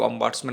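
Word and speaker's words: ombudsman: নামের একটা আর্টিকেল আছে অম্বুটসম্যান কেউ কেউ অম্বার্টসম্যান উচ্চারণ করে বাংলায় যেটাকে বলা হয়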